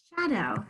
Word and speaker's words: shadow: spell low low the sometimes the ow says out and sometimes it says a long o and in this case it says long o shadow shadow shad oh same as low we spelt a low